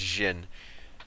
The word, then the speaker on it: Djinn: I'm wrong I think I think it's Jin or yeah and the D is silent the new infested Sentinel